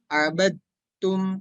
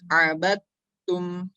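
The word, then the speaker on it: عبدتم: Jadi kita bacanya bukan abadtum atau bacanya arbadtum, tapi arbattum, langsung diidghamkan.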